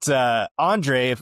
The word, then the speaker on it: Andrej: yeah, silent J there for sure. But Andrej, if you're not familiar with who he is a computer scientist.